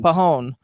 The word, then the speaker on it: Pajon: the J is silent. Pajon.